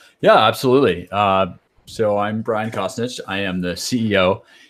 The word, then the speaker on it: Costanich: Costanich. Costanich, okay.